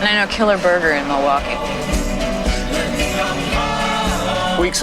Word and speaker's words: Milwaukee: It's on the way to Milwaukee. Actually, it's pronounced Milwaukee, which is Algonquin for the good land.